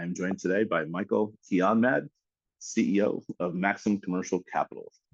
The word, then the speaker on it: Kianmahd: I am joined today by Michael Keanmad, CEO of Maxim Commercial Capitals. Thanks for joining me, Michael. My pleasure. That's a perfect pronunciation of my last name.